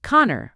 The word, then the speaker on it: Conchubar: Well then, Eileen began, there once was a high king of Emmen, and his name was Konabar, pronounced Connor, pronounced Orites, Connor<unk>s first and turner.